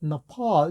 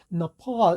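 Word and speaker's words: Nepal: 왜 제가 그렇게 못 들었냐면 액센트가 펄에 있어요. 그리고 맨 앞에 네는요, 우리는 네 이렇게 명확하게 발음을 하잖아요. 근데 미국인들은 너 펄 이런 식으로 해서 액센트가 없는 너는 들리지를 않습니다. 너퍼 할 때 그 너 사운드가 바로 슈아 사운드거든요.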